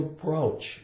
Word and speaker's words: brooch: some top that she's wearing it's called a brooch and that's how it's spelled o u o b Boulder Boulder a